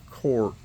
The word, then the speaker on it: Korth: German way to pronounce court is kind of like Court like you're going into a courtroom but it is spelled